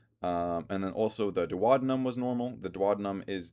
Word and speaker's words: duodenum: Um, but like in high school when I learned that word, I was pronouncing it as duodenum. Uh, and then my teacher was like, "Duodenum."